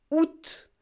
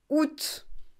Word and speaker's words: août: 23 août 2019 prononciation août août on ne prononce pas le a et on ne prononce